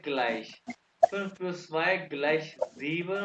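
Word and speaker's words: gleich: फिर plus Y equal को कहते हैं ग्लाइश। फिर प्लस वाई ग्लाइश जीवन हो गया। माइनस को इंग्लिश में स्पेलिंग है, लेकिन अकॉर्डिंग टू जब मीनस हो गया, ठीक है।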